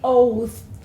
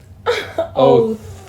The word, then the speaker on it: oath: Oath. Try not to spit on someone when you say that. So the oath, because we have the TH, you have to pronounce it with your tongue between your teeth.